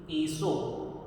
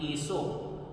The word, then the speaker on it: एसो: इसका भी प्रोनंसिएशन देखिए ससो ससो नहीं बोलना पिछली वीडियो में भी हमने डिस्कस था एसो प्रोनंसिएशन इसका गलत है इसे बोलना है एसो पंच नम कारो अब